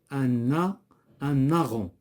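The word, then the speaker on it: héron: Un aron. كنقولوا un aron. إذا هنا H ne se prononce pas و G كذلك. l'asthme.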